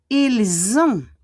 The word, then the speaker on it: ils ont: Ils ont, the S will become a Z. Ils ont, and we don't pronounce the T.